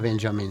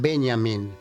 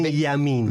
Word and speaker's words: Benjamin: No digas Benjamin. ¿Cómo es? Benjamin. Benjamin. Porque si le decís Benjamin, me lo mandás a Estados Unidos. Ajá. En alemán la J se pronuncia I. Entonces, Benjamin.